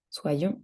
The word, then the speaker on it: soyons: qu'il et qu'elle soit attention à la prononciation soit soit soit soit soyons et soyez avoir que j'ai que